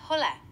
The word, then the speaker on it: hola: Dalam bahasa Spanyol, halo adalah hola. Coba ucapkan setelah saya. Hola. Hola. Hampir sempurna. Pengucapan hola dalam bahasa Spanyol memang mirip dengan ola, tapi huruf H aksen di depannya tidak dibaca. Jadi cukup ucapkan Ola.